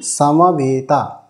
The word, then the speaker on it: সমবেতা: সময় নিয়ে বলি যেরকম সামাবে সামাবে তাহলে এটা ভুল হবে কারণ স এর সাথে হ্রস্ব আকার রয়েছে তো হ্রস্ব আকারে এটার উচ্চারণ করা উচিত সামাবে এই যে বে